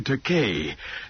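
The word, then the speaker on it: Takei: By the way, George, how do you pronounce your last name? Is it Teai? This is a frequent misprononunciation of my name. No, it's pronounced te. I corrected. It rhymes with okay.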